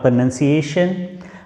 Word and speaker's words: pronunciation: So I will make another video for especially on pronunciation. Most of the students also utter this word wrongly. They say pronunciation. This is not pronunciation, my dear. This is pronunciation.